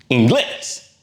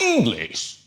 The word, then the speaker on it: inglés: But no, the stress is actually on the last syllable, which breaks the pattern. So therefore, there's an accent on that E. So we know to say inglés, not English.